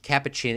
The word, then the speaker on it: capuchin: would type in caption capuchin the white face kappa chin is also known as a rub certain these